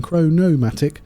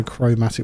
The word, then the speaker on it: chromatic: I was putting a no in there. I was going chronomatic. But I'll try and get that out of my brain as well and just go chromatic metal and condensed carbon.